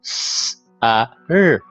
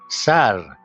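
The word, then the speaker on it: سر: Okay, so s, a, r, sar.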